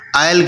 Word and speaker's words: isle: आइल कहते हैं जजीरों को। ठीक है। ISLE, यहाँ पर S साइलेंट है, इससे क्या मुराद है?